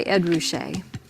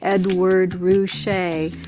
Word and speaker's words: Ruscha: considered very cool the artist's name is pronounced Edward Rouse he goes by Ed Rouse when he was a young what you might